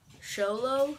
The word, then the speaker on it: Xolo: in four chunks xolo itz c-u-i-n-t-l-i so show show low yeah i'm showing you so x o l